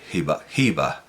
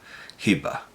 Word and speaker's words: Hiba: Bueno, en árabe clásico sería ser Sí, Hiba, Hiba, porque es una y larga.